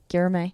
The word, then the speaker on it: Guilherme: How do you pronounce that? Yeah, I may. Guilherme.